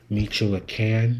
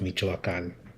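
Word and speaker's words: Michoacán: mexico add during the super bowl and back meechula can more like mitchuo can't no it's pronounced mijo akan everybody the colonizer could not pronounce that state of mexico it's michoacan so yes avocados you might eat them you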